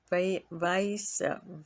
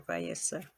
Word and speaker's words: Vyasa: ignorance, they are called Vyasa, V-A-S. Y-A-S, Vyas, I guess that's how you say it, or Vyasa, and that Y is an I.